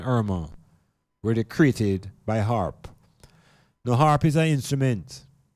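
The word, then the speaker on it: HAARP: was Hurricane Harvey and Hurricane Irma created by HARP? Now, some of you may not be aware of what HARP is. It's spelled H-A-A-R-P, H-A-A-R-P.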